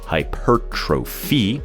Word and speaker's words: hypertrophy: it's a confusing word many people don't even know how to say it hypertrophy is the right way